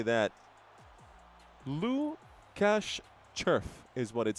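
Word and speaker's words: Červ: It's Lucas Lucas Churf. Uh is spelled in the play.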